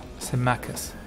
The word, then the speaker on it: Symmachus: Yeah, that's how you pronounce that name. Symmachus.